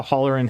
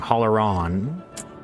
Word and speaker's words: Holleron: Somehow Holleran has already, I keep saying it wrong, Holleron has already finished all of chapter 2.